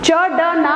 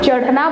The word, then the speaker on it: चढ़ना: च ड ना नहीं बोलेंगे, चढ़ना बोलेंगे, है ना। तो उसका जो उच्चारण है ये ड़ के समान निकलता है,